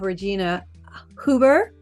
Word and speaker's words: Regina Huber: And today on the show, we have Regina Huber. Is that right? Did I say it right? That is right. That's perfect.